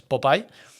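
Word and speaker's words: Popeye: demás, el proyecto Popai, el famoso Popya que está mal pronunciado, pero es Popai, eh, ya se utilizó,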